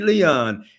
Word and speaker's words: Leon: Am I pronouncing your last name right? Kenny Leon. Only time it was pronounced Leon was when I won the Tony Award, and Clint Eastwood says, and the winner is Kenny Leon, which I sat in